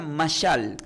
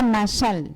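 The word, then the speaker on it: מָשָׁל: Diga conmigo, se pronuncia masal. Se pronuncia masal.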